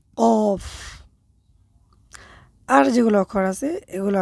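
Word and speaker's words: ق: করতে হবে একটু সঠিকভাবে এটার ক্ষেত্রে অনেক সময় আমরা কাফ বলে ফেলি। কাফ বললে কিন্তু ভুল হবে।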